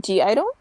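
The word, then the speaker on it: (G)I-DLE: and also ya from G Idol you don't pronounce the G but I pronounce the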